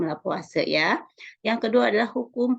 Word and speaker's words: Lavoisier: yang disebut juga dengan hukum lavoisier dibacanya hukum la puasa ya Yang kedua adalah